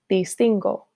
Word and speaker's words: distingo: In the jo form, instead of ending in G-U-O, the verb ends simply in G-O. As a result, we have yo distingo.